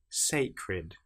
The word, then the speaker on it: sacred: Sacred, fed. These are ones where you hear the E sound before the last letter.